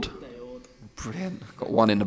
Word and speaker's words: Daord: Is it pronounced Daord? Daord.